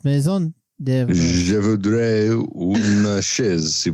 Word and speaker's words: Maison de Fromage: to give you the Maison de Fromage. Maison de Fromage. Maison de House of Cheese. Which is I'm from Montreal, Quebec, and it's pronounced Maison de Fromage.